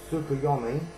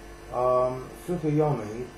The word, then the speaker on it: Tsukuyomi: Red Eyes Darkness Metal Dragon, Spore, Tsukuyomi, I believe the T is silent in that, Ibagishki Gust Kraken, Ultimate Offering, and Wind Up Carrier Zenmighty.